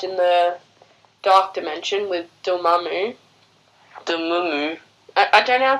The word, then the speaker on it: Dormammu: the Dark Dimension with doll mommy moon I don't know pronounce it Dormammu door like like a door in the wall in there MA like mommy ma like duel mommy